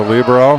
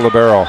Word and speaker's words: libero: Will as a setter, Nate is a Libro. How do you say, Libro or Libero? Libero. Libero. Okay. Yeah. I've gone to the officials. Either way is acceptable.